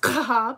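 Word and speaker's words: Schab: h a b um fortunately sounds very similar to CLA Schwab um it's actually pronounced kab you have the Haw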